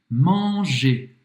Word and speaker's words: manger: Voltando no nosso verbo, ER no final de um verbo se pronuncia E. Manger.